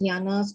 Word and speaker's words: jhana: The initial peripheral concentrations, the stage of approaching concentration of the first jhanas, can also develop wisdom.